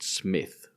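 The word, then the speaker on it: Psmith: And I've got another bit and this one comes from somebody I've called Smith where the P is silent.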